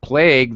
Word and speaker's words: plague: has one vowel sound plague the double vowel actually is not pronounced whatsoever you don't even pronounce it uh interesting construction it's